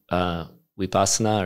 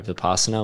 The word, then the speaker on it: vipassana: could argue that there's two paths of meditation, vipassana or vipassana, which is insight, and then shamatha or samatha, depending on who you talk to or how you pronounce it, which means tranquility.